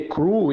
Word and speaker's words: Krull: Na verdade, Crow se lê Crew em português, né? Porém, a pronúncia do inglês é Crow, né?